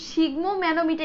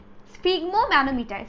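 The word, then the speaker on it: sphygmomanometer: একজন সিগমো ম্যানোমিটার এরকম কিছু লিখছে, আমি তার উচ্চারণ করতে পারিনি। এটা হচ্ছে স্ফিগমো ম্যানোমিটার।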